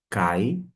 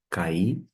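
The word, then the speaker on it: καί: Temos a conjunção cai, ou você pode pronunciar cair, que é justamente e vai mencionar Timóteo.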